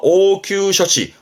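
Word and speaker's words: 応急処置: 응급처치라 해서 오큐 셔치.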